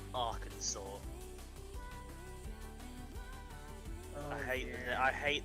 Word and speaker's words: Arkansas: a minute in my brain say like saying are kansas our kansas what how am i to pronounce this again uh arkansas you guys take the piss out of us